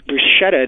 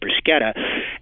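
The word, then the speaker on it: bruschetta: people pronounce it Bretta some people pronounce it more as it would be in Italian as brusketta um we asked the usage panel what they thought um most of them thought both forms are fine and when we asked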